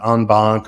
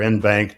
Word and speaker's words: en banc: Every now and then, you'll have an en banc or in banc, depending on how you like to pronounce that, proceeding that where all 14 of us will come and sit together.